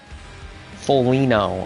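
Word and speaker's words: Foligno: the way um yeah it's feno oh the G the G is the g is silent that makes sense all right well there you go folino okay see even you're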